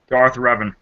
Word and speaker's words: Revan: Darth Revan.